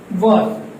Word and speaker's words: was: आज का स्टार्टिंग हम लोग करेंगे was और was और was। तो ध्यान दीजिए, ये जो अभी मैंने प्रोनाउंस किया was, ये एक्चुअली प्रोनाउंस होगा was। एक्चुअली में ये प्रोनाउंस होगा was। ये हम लोग जनरल मिस्टेक करते हैं, ठीक है।